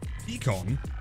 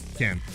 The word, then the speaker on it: pecan: Pecan pronunciation depends on where you live, to be honest. In Texas, it's pecan, or like, pecan.